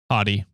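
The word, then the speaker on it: haughty: bit I don't know this word is it pronounced hottie h a u g h a u HT y yeah hottie what the hell does that mean hottie you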